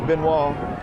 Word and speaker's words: Benoist: Well, Coach Travis Benoit, and I have to say it again, it's spelled Benoist. That's the way most people pronounce it, but it's Benoit.